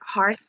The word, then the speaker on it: hearth: I could get like home and earth, like hearth. How do you say that word? The HERTH.